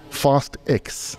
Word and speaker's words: Fast X: torsa shuchonga and other koisan viewers it is pronounced fast X just reinformation fast eggs if you live your